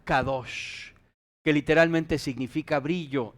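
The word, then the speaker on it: קדש: como Santidad en hebreo se escribe q d s y se pronuncia kados que literalmente significa brillo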